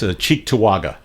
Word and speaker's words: Cheektowaga: My favorite is Cheektowaga, and that is how you say it. Yeah. And it's spelled just like it sounds.